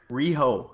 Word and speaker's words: Rio: that name for Kilgore I believe it's REO Kilgore reho like the REO Grand I believe that is